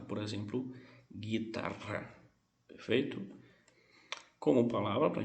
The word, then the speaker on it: guitarra: Se esse GU vier antes de E e de I, sem nenhum tipo de acento, nós não vamos pronunciar esse U. Por exemplo, guitarra, guitarra, certo?